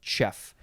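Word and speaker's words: chough: just looked at it would it be cho choff ko cough there are probably more options i don't know anyway it says it's pronounced chef noun from uh the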